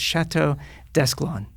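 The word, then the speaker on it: Château Desclans: So it's Chateau Desclans.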